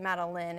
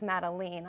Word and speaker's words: Madelene: madeline and she's like your name isn't Madeleine it's madelene I was like what